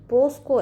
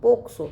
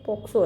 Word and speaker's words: POCSO: कुछ लोग इसको पोस्को एक्ट बोल देते हैं, पोस्को, तो ये बिल्कुल गलत है। और इसका सही प्रोनाउंसिएशन पोक्सो, क्योंकि देखिए सी आ रहा है, सी में के का प्रोनाउंसिएशन आ रहा है, इसलिए पोक्सो एक्ट है।